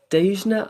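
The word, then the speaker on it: Dhejne: that's i don't never know how to say the word dejan i think is how you say it she's from sweden d-h-e-j-n-e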